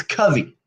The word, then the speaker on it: Covey: when you were 10 is when you decided, and it's Covey, Yes, you're one of the very not few that Covey. actually pronounced it correctly.